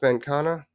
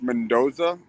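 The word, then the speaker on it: Mendonça: Mendonca? I believe it's pronounced Mendoza. The C is like pronounced as a Z.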